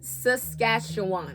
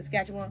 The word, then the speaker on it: Saskatchewan: you say it yes it looks like Sacagawea it looked like Sasquatch I think I found the pronunciation I think it's Saskatchewan I think you said it right Saskatchewan we have a huge